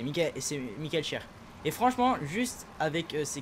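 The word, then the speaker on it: Michael Schär: Ça se prononce cher pour Michael Char c'est Michel Cher et franchement juste avec c'est quelle étape encore ?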